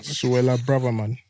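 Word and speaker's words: Suella Braverman: Pele, kilo so- Suela Braverman.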